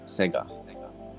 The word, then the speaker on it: Sega: in japanese and and i know how to pronounce that 100 and that is sega it's very short and sweet and obviously when they do it at the start they just elongate it see obviously obviously it's